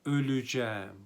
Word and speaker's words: öleceğim: altında doğdum senin altında öleceğim bakınız burada e harfi daralma kuralıyla üye dönüşüyor öleceğim şeklinde telaffuz ederiz yine ğ de var